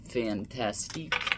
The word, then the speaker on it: Fantastique: And no, I did not say fantastic like that to sound funny. That's how it's spelled and pronounced. I've heard Dan and Dave say it.